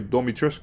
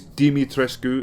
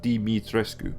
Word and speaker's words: Dimitrescu: don't know why they've got a voice actor pronouncing domitrescu in the game because i'm pretty sure i heard ethan say domitrescu you can't even get the